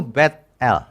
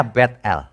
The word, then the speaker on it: Bet-El: Ia menamai tempat itu Bet-El. Sebenarnya bacanya Bet-El, rumah Allah, bukan Betel.